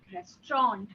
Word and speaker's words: restaurant: Now coming to the word restaurant, it is the pronunciation is restaurant. Okay. There is no Restaurant. nt in it. Yes, it's a straw rather than nt. Why? Because it is coming from French words.